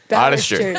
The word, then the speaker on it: Badertscher: It is Badertscher. Yep. Obviously pronounced Boderster.